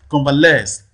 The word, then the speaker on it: convalesce: last or is likely to fall on the last syllable right convalesce so the last label there receives the prime stress then see circumstance clearly